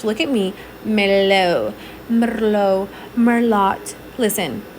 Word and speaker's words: merlot: at me melo merlot merlot listen this is how i would read it merlot but i know that t is silent guys that's what i